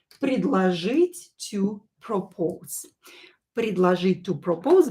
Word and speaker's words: предложить: And when O is not stressed, we pronounce it as A, right?